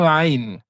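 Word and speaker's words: عين: Donc c'est une lettre qu'on va prononcer avec le milieu de la gorge.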